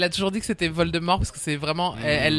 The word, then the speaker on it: Voldemort: Hermione pas d'Hermione de Voldemort et parce qu'on prononce pas le thé parce que c'est pas mal de mort comme parce que c'est vol de mort littéralement en français un